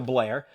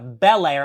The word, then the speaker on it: Belair: likee very heel like Bianca Blair uh she did get I'm sorry Bair belir I know a lot of people don't like when I pronounce that wrong uh she got knocked